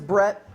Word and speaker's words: Brett: So, uh, my name is Brett. Two T's. You only pronounce the first one, though.